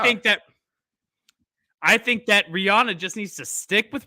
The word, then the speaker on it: Rihanna: It's Rihanna, but people know me as Rihanna. I'm going to go with that. I think that she just needs to ride with that one because it's worked out for her.